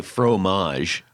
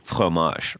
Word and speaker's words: fromage: right now we say fromage but it's you have you're supposed to go like fromage right it's the the and you don't even pronounce the g at the end right yeah and then